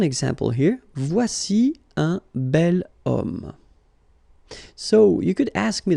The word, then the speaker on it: homme: Because homme, well, it's masculine, yes. The reason is that it starts with the sound O. Because if you remember carefully, H is not pronounced, so H doesn't exist phonetically.